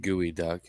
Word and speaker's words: geoduck: that a local shellfish the geoduck uh pronounced gooey duck has the properties of